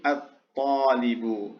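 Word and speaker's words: الطالب: Kemudian talibun, talibun ketika masuk alif lam menjadi at-talibu, ya, at-talibu.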